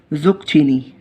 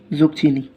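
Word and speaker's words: zucchini: तुरई को इंग्लिश में कहते हैं ज़ुकचीनी। ज़ुकचीनी कैसा नाम है? ज़ुकचीनी। तो ज़ुकचीनी की स्पेलिंग कुछ यूँ है कि Z बनाए आप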